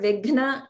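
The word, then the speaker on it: विघ्न: That word vigna is very hard to pronounce because the mahaprana is immediately followed by another sound.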